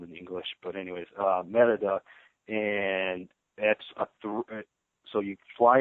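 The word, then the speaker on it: Mérida: There's one flight a day from Houston to Merida. I keep on wanting to say Merida because that's how it's spelled in English. But anyways, Merida, and that's so you fly into Merida and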